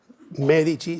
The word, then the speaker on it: Medici: Pero Medichi sin acento, pero tienen que pronunciarlo como si fuera al final una ch.